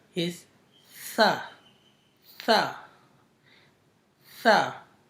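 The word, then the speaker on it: ث: The first letter is tha. Tha. Tha. When the tip of your tongue touches the up 2 big teeth beginning, then it's pronounced then it's pronounced the letter tha.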